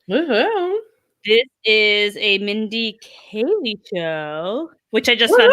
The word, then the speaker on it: Kaling: Am I saying it wrong? Kaling? Yeah, I think it's ing. Kaling. What did I say? Kaylee? Oh, I meant Kayleen.